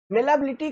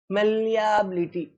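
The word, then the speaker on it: malleability: इस यहाँ पे देखो, यहाँ पे जो इसका प्रोनाउंसिएशन है ये है मेलाबिलिटी। इसमें मतलब ये जो ई है ना, यहाँ पे डबल एल के बाद जो ई है, ये साइलेंट हो जाता है ना, नहीं तो हम पढ़ते मेलियाबिलिटी, ना ना, मेलाबिलिटी।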